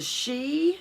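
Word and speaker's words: Sidhe: work with now there is something called the she it is spelled s-i-d-h-e this is a race of inner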